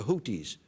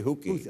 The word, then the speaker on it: Houthi: Well, it would look like it was Houthi. It's T-H. Houthi. You say Houki.